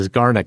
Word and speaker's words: Zeigarnik: So it's Zeigarnik. And they document this as the Zeigarnik effect.